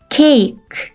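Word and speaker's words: cake: a가 들어있는 단어들을 살펴볼게요 장모 a는 어떤 발음이 나죠 맞아요 a a라는 발음이 나죠 뒤에 2는 발음이 나지 않아요 첫 번째 단어 크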